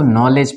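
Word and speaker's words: knowledge: तरह इसको लेजर पढ़ेंगे डी जो है वो साइलेंट हो जाएगा इसको क्या पढ़ेंगे लेजर ठीक है उसी तरह इसको नॉलेज पढ़ेंगे ये जो जी है जी के पहले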